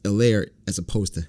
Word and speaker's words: Helaire: out that it's pronounced elaire as opposed to hillary so the h is silent clyde edwards earlier was